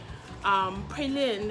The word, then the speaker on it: Praslin: Praslin is how they say it here.